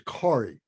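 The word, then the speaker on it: Gauri: is uh he's a uh his name is corey and on the left is sorry uh g-a-u-r-i but it's pronounced sorry one of the idiosyncrasies of the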